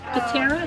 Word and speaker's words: Pittera: Pittera, is that how you say it?